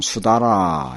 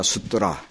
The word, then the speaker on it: 수다라: 한자 발음으로는 수다라, 이렇게. 이제 원래 범어 발음으로는 이제 숫더라. 그걸 갖다가 한역으로 할 때, 개경이라고 이제 이렇게 번역을 해요.